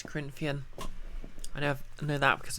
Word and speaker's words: Corinthian: krithian oh fair enough wait is it pronounced creepy nor corinthian no it's corinthian i never know that